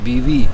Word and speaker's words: Viví: Viví un poco más, con acento en la I, viste, una pequeña pausa.